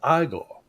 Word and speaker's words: Igor: I Said, oh, your name's Igor? No, it's Igor.